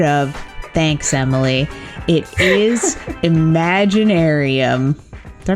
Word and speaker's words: Imaginaerum: It is Imaginaerum. Did I pronounce that right? Yes, Imaginaerum by Nightwish.